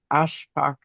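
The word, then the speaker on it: Ashfak: Um, and for those who want to know how Ashbach is spelled as A, S like Sam, H, F like Frank, A K. Um, and that's that's uh we're working on on pronouncing and saying his name correctly ourselves and we think that names are important and so Ashbach is uh my new new pronunciation and as somebody who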